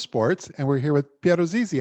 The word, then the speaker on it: Piero Zizzi: the world of sports and we're here with pierrot zizi how are you hi hi matt good to